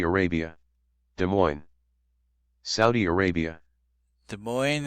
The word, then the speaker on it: Des Moines: Des Moines is a city in America and has the oi sound, which is prevalent in many words, like toy and coin and others.